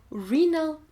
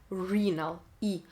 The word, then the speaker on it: renal: Inside of a kidney we have renal tubules. Ага, слово почечный читается как renal. Буква И звучит как в алфавите. Renal, И.